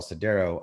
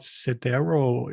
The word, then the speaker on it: Sidero: And then you can tell Cdero, I want a Talos-based cluster that is made